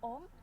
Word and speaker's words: Ohm: Bacanya biasa saja ya, Ohm. Bukan Mbak, Ohm. Biasa saja bacanya.